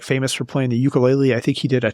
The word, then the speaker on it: ukulele: I think so and I think I mispronounced that wrong too it's ukulele is the correct pronunciation but yeah yeah I